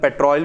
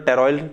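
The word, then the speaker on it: pteroyl: नॉन स्टेरॉयडमी acid पीजिए इसे हम पेट्रोल भी कहते हैं साइलेंट है तो टेरियोल विटामिन कैसे पीजिए बोल देते हैं ठीक है तो ये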